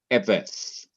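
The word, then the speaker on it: עֶבֶד: It's a two-syllable word. Now notice that e is the first syllable, beth is the second syllable. But notice that the second syllable, which is the last syllable of the word, is not accented. It is the syllable before the last syllable that has the accent.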